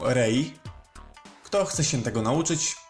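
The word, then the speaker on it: 零: Czyta się je oczywiście jako rei.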